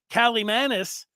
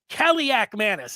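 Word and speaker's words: Kaliakmanis: elevates their quarterback, Ethan Kalimanis, in his first full season as the starter. So, Kaliak Manis, if I didn't say that right the first time. There's a lot of syllables in there.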